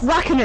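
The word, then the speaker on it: Räikkönen: No, it's Raikkonen.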